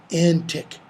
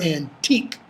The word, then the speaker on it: antique: no lines there with fine antique pin or antique pen depending upon your pronunciation and how you want the line to scan him notice he makes